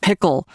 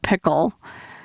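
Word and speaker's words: PICL: So you've developed a machine learning tool called Pickle, which is spelled P-I-C-L, not like the pickle that you put on a burger.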